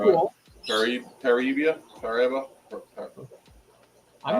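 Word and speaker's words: Paraíba: How do you pronounce that, Jason? Paraiba? That's right. cool. Paribia?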